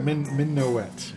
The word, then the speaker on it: Minuet: Okay, so, Minuet. She wrote it out phonetically. Oh, so it's like minnow.